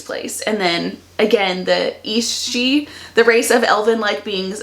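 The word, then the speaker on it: Aos Sí: There's another word that's A-O-S-S-I, and it's East-she, I think.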